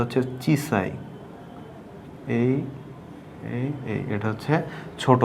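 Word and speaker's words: 小さい: ছোটর কাঞ্জি তো ছোট আমরা জানি যে এর উচ্চারণটা হচ্ছে চিসাই এই এইটা হচ্ছে ছোট বা স্মলের কাঞ্জি তো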